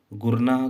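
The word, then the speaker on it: Gurnah: गुरनाह को हम, ठीक है, घूरना भी कर सकते हैं, ठीक है। यानी घूरना शब्द इसी का प्रोनाउंसिएशन शो कर रहा है, घूरना यानी गुरना, ठीक है।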